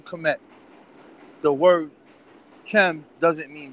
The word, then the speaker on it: Kemet: These 5 glyphs is transliterated as KMT. We pronounce it as Kemet, and it means the nation of the riparian country.